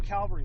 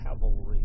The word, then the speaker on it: cavalry: inform and help people cuz the I am Calvary thing got a got me specifically because I